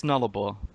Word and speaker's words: Nullarbor: Yeah, it's Nullarbor. Yeah, everybody asks me about that name. It's pretty much a hooked on phonics name.